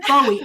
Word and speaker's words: Bowie: at David Bowie pronouncing his name and he pronounces it Bowie and in fact there's an interview he's British